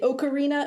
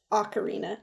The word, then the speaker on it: Ocarina: have always and will always want to say ocarina of time but I have since learned that that is not correct ocarina is the correct pronunciation and whatever but this